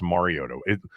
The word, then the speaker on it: Mariota: I used to say Mariota, and people corrected me and said it's Mariota.